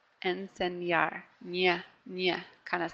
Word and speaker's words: enseñar: again the anyway here so it's like we're putting a why right after that so here's what it sounds like if I didn't make that Y sound it would sound like this and Sena and Sena and that's actually a different verb okay and say NAR when we put the wine in it sounds like this enseñar enseñar yeah yeah kind